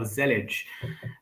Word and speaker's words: Zellij: uh I'm the Creator and lead maintainer of zelage um that's the pronunciation to the best of my knowledge uh